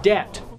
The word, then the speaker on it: debt: spelling but different pronunciations the word debt has a silent B in it the s in debris